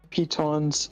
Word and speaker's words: pitons: Kudos to you for pronouncing them pitons. Like, because that's the actual pronunciation.